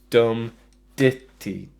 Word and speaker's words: dum-ditty: So it's dum-ditty, dum-ditty. The stress is on the dit, which is the second downstroke.